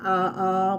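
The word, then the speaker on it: ʻaʻā: have hoi hoi or ah uh which is spelled a a but it's a ah in hawaiian but it would have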